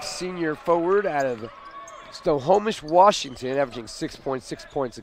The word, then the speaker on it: Snohomish: newcomer McLaughlin e66 senior forward out of them Snohomish Washington averaging 6.6 points a game as far as I know you nailed the pronunciation in that town that's the way I've